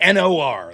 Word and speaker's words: Noerr: I was like, yeah, my last name's like the conjunction. It worked 0 times, but Yeah, it sounds like NOR.